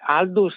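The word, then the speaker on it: Aldous: con la pronuncia inglese volendo essere fiscali dovremmo dire hus e fra l'altro quel all pronunciato proprio come all tutto può essere anche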